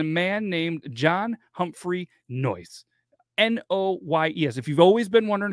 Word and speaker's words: Noyes: So it all began with a man named John Humphrey Noyes, N-O-Y-E-S.